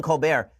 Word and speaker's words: Colbert: My understanding is that Stephen Colbert actually changed the pronunciation of his name in college. This is the rumor that was going on, is that Stephen Colbert is actually pronounced Stephen Colbert. And he actually changed it to Colbert because it sounds more sophisticated.